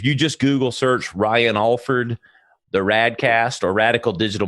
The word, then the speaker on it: Alford: Uh, it's A L F O R D uh for people at home, but it's pronounced Alford.